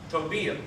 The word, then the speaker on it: tobillo: So here in this word, which means ankle, how would you take that knowing that the two L's makes the ya sound? Tobillo.